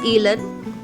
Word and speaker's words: Ilon: It's so important, and that's why I'm so happy to announce that this is Ilon. It's spelled I-L-O-N, Daniel, like Isidore Daniel Iking Azmi.